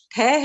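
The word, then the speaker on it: ठः: हाँ उसका हाँ, प्रोनाउंसिएशन ठह है या ठा है? देखिए उसमें विसर्ग आया ना, विसर्ग हाँ, जो 2 बिंदी है, विसर्ग का साउंड हमेशा हा होता है, हा हल्का। तो ठा ठा होगा, और हा, ठा और हा, ठहा ठहा।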